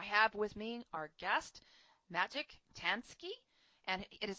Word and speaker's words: Maciej Tański: I have with me our guest, Maciej Tański, and it is spelled M-A-C-I-E-J, Tański, T-A-N-S-K-I.